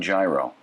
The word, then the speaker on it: gyro: What's the Eat and Run gyro? The Eat and Run gyro is gyro. What is it? Is that what it is? Gyro. Gyro. So it's not, so the G is silent.